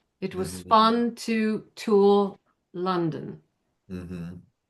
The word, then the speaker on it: London: London is the same thing, right? Same thing. Exact same sound.